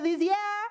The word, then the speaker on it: Luzier: I am talking to Ray Luzier. Am I pronouncing that right?